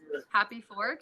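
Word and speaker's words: HAPIfork: Happy Fork. It's spelled HAPI.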